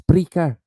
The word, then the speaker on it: Spreaker: Yeah, Spreaker. It's got an R. It might be me that pronounces it wrong. It sounds like speaker, but it's Spreaker.